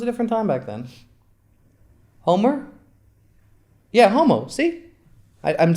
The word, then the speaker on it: Homer: Homer? Yeah, Homo. See? I'm saying it wrong, definitely. There's a whole poem. Homo.